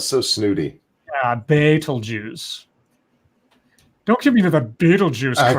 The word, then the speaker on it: Betelgeuse: he told CNN that beeld used pronounced Beitel juice oh my bad good that sounds so snooty baitul juice don't give me the